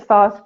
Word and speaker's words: Thoth: I usually pronounce it Thoth, but tonight, because Paul is here, I'm going to pronounce it Thoth, because I know that's how he pronounces it, so I'm going to try.